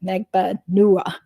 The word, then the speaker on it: Magbanua: keep remembering okay it's you have to pronounce it megba Nua so yeah uh okay